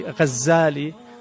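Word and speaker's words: Ghazzali: Some say his name is actually Ghazali with a shadda from Ghazal, which is a carder of wool, which is what his father did.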